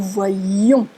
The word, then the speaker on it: voyions: Et quand on prononce, on accentue. Nous voyions, lion, nous voyons.